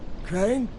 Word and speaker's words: Crane: my name is crane crane crane rhymes with train and brain and sane and grain and rain and plane and the other kind